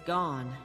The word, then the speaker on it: Gon: But it's Gon, with Sickle and Lantern. It's come to the Deadfire. It's gone, that's how you say it.